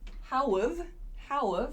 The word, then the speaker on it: how've: So this how have becomes how've, and this y-o-u sounds like yeah.